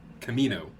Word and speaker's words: Kamino: Kimono? I always mess that word up. Camino. Camino.